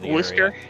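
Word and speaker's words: Worcester: some people who are Worster. That one always killed me. But it's it's spelled Warchester or something like that.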